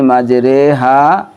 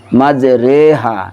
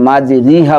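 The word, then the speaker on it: مَجْرٰىهَا: বিসমিল্লাহি মাজরেহা অমুরসাহা ইন্না রব্বিলা গফুরুর রাহিম।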